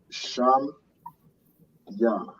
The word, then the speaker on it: Shamya: So to say my name is, it is Sham Ya. So Sham Ya. So that is how you say my name. So Sham means name, and Ya is how you'd say my name.